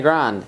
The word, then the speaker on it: Grande: Grande. Ariana Grande. Is that really how you say it? Yeah. That's so not. Okay, start over and say it again. Is it really? Yeah. Because I've heard it grand so many times. It's Grande.